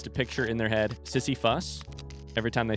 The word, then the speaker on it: Sisyphus: I think it sounds like Sisyphus, but also if I had to pick which syllable sounded like a U, it's the second one. No, it's the first one, even though the second one is the one with the actual U.